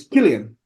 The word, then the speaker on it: Cillian: Actually, we're Uh, pronouncing his name wrong. It's Killian, I think.